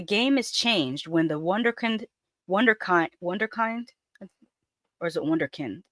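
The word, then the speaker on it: Wunderkind: But the game is changed when the wonderkind or is it wonder? It's it's a German word. I I think it's pronounced wonderkin.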